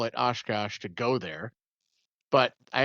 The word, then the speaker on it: Oshkosh: Oshkosh, Yeah, it's called Air Venture, and apparently the